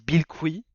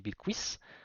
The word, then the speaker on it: Bilquis: Alors, ils disent Bilqui, ce qui me stresse beaucoup parce que ben, Bilquis Evely est brésilienne et on prononce pas ça Bilqui, on dit Bilquis, si je dis pas de bêtises.